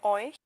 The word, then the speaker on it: euch: por eso escuchamos by, y luego hemos estudiado el sonido EU, vea, que sabemos que vamos a pronunciarla como hoy, y luego que el CH en este tipo de palabras suena como ch.